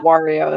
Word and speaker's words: Wario: yeah the bad guy i think i did pronounce that wario though and not where you are because mario is not a real word it's not a real name it's really not but conan but wario rhymes with his real name that is like that's